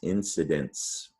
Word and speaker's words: incidence: kid or oh yeah the c followed by an i right that's going to be sid dent incidence incidence is a plural